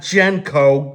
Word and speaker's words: Genco: And I mean Genko, not Genko. Genko, that's the correct pronunciation.